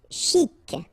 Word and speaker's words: chic: Chic. Okay, you pronounce the final C and then CH together. Sh.